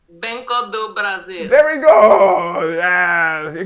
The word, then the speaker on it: Brasil: again banco d brazil okay yes actually just brazil brazil there we go yes you got it this